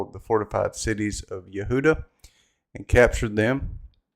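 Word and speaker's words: יהודה: the Fortified cities of Yehuda and captured them that's how it's pronounced in Hebrew it's Yehuda the king of Assyria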